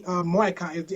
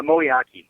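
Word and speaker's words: Moeaki: that just happened though with tight end Tony moai am I pronouncing his name right moai uh moak oh I'm sorry moak I'm sorry for for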